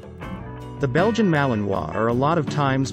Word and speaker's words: Malinois: their own separate breed the belgian malinois pronounced mal in hua was developed in the belgian city of mainlands